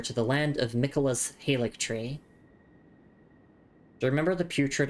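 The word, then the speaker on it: Haligtree: Anyway, uh so it's not a hik tree, it's actually hik tree.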